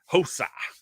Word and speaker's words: Rosa: I'm on Rosa money line minus 255, and I have Rosa tied up in a parlay. So hopefully she does get the win. Hosa. But you gotta pronounce it with the H.